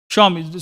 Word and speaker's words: Xiaomi: Xiaomi. So many people don't even know how to pronounce it. Xiaomi, they say.